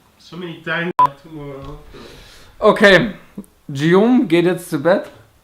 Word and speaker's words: Guillaume: Okay, Guillaume geht jetzt zu Bett.